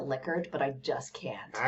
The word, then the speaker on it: Likert: lick likert scale i i'm supposed to pronounce it licker but i just can't